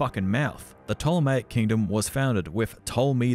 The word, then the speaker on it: Ptolemaic: was ptolemaic egypt yes it's pronounced ptolemaic not patolomaic you filthy plebs with